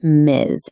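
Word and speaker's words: Ms.: It's pronounced miz, and you can use it for any woman, married or not.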